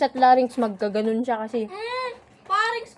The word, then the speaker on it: pharynx: Parings pala pagbigkas nun.